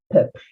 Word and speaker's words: peuple: Remember that when we have an E in final position with no accent, we say the L, peuple.